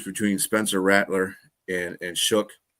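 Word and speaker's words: Shough: They got to choose between Spencer Rattler and and Shook that I I don't know why you spellize his name that way, but that's what he pronounces it as.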